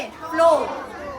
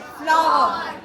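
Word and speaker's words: flour: कई सारे बच्चे, आप इसे क्या बोलते थे पहले? फ्लोर। आटा है ना, आटे को हम क्या बोलते हैं इंग्लिश में? फ्लावर।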